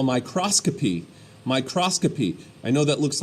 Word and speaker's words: microscopy: was the father of what we call microscopy microscopy I know that looks like microscopy but it's